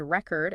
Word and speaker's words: record: and intonation for example the word record is pronounced differently depending on whether it's a noun or a verb the stress shifts and that changes the pronunciation oh wow I actually